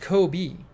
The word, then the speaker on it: Kobe: Sonic says pronounced Kobe.